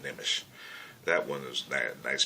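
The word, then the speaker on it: Nmesh: I can pronounce it Nimish.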